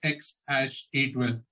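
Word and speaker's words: X Æ A-12: innovative name for her which is pronounced as x-a-12 now you can trust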